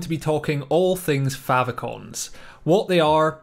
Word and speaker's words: favicon: from the words favorite icon but you do pronounce it favicon not favicon or fave icon as some people will say but essentially what